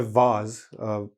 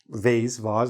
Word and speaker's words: vase: So if I have a vase, vase, however you want to pronounce it, both are okay, full of flowers, and I want to set it on the table, okay?